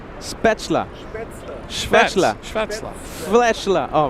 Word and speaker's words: Spätzle: How do I pronounce it? Spätzle.